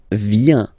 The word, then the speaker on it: viens: So the first form is je viens, je viens, okay? Remember this I, viens, and then this nasal, final S not pronounced, je viens, tu viens.